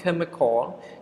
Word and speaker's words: chemical: Even you can see the word ch here, but the pronunciation of the word is chemical, which is the sound. Ch here sound, right? Chemical.